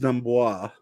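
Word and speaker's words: D'Amboise: It's pronounced Dumbois. Yeah, it is. It's Ashley Dumbois.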